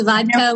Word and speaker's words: Vacha: Yeah, it's Vaca with that, the D, so Vaca. It's spelled differently.